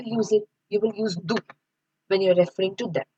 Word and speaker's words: du: then you will use it you will use do when you're referring to them. So you do. So we say in English you but in German we say do do.